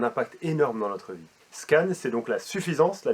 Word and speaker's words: SCAN: Et c'est un acronyme, donc c'est-à-dire un sigle qui se prononce comme un mot normal, qui s'appelle SCAN.